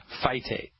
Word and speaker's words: phytate: You spell that P-H-Y, T like Thomas, A, T like Thomas, E, phytate.